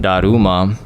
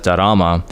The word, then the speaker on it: Daruma: In the beginning of this episode, you could hear us talking about Daruma, which I mispronounce as Darama.